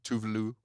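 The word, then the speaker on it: Tove Lo: Tovlo was there's a few. Tovlo was great. I love Tovlo. Tuvlu, how they say it.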